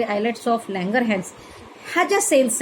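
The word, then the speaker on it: islets: तर endocrine Gland म्हणून कोणते टिश्यूज काम करतात, तर पॅनक्रियाजमधले आयलेट्स ऑफ लँगरहॅन्स, याचं स्पेलिंग जरी आयलेट्स आहे तरी आयलेट्स ऑफ लँगरहॅन्स, ह्या ज्या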